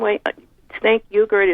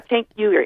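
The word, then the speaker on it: Cenk Uygur: can't say his name way sank yuger is really promoting this his name is chank chank chank yeah chank yuger I know he's really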